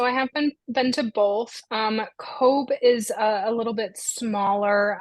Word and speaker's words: Cobh: Cove is a little bit smaller.